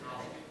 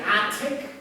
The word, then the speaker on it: attic: Double T's in American English. We use D's. Attic. If you say attic, that's okay. Attic is British. Attic is American.